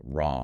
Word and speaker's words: Ram: It's pronounced like Ram.